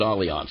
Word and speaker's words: Allianz: thing with with and they think pronounce it Allianz but it smelled just like Alliance that's what it looks like